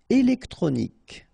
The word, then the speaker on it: électronique: Électronique, okay, so as we saw previously, Q-U-E at the end, K, okay, électronique, électronique, électronique.